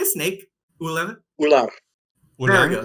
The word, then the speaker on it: ular: Ular? Ular. There we go. That's the way you're supposed to say it. Damn. You roll your R's at the end, is the thing.